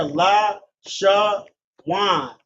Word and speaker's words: Lashawan: See here, La, Sha, Wan. Connector on the La, meaning a La. Connector on the Sha, making the syllable Sha, one syllable. Then a connector on the Wa and Na, making Wa and Na connected as Wan. Given the pronunciation of Lashawan, and the syllables being Lashawan.